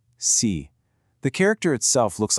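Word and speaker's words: 四: It's pronounced C. Notice how my voice falls in pitch. C.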